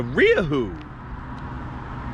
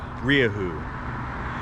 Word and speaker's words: Rieju: you what is it it's a riahoo yeah riahu that's how they taught me to say it I've heard it pronounced a bunch of different ways riazu riahu reehoo region it's Spanish in fact